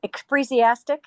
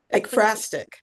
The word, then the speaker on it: ekphrastic: I was Yeah, going to say in the chat, I couldn't spell it. I yeah. like only last year learned the term, is it ekphrasia? Ekphrastic.